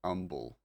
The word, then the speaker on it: Humble: Humble. City in Texas said umble.